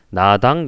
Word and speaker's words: 나당: 그래서 신라와 당의 연합이 이루어지는데, 자, 신라의 라자를 이제 나라고 발음해서 나당 연합이 이렇게 만들어지는 거예요.